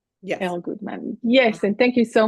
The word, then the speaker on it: Elle Goodman: with El Goodman and this is how I pronounced your name right yes El Goodman yes and thank you so much for joining